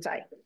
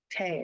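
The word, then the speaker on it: Thích: This terrible American pronunciation. Tay is a little closer than Thich, but I was taught Thich, so it's still my habit. So Tay.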